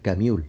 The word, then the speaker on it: Camus: pueden ver la película alber se escribe Albert camus pero como fue de origen francés Albert camul el extranjero otro libro